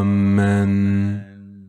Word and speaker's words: аминь: Если посмотреть, как это произносится в Ватикане, то это всегда произносится как «аминь».